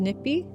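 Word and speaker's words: nipiy: In our language, in Cree, it's pronounced nippy.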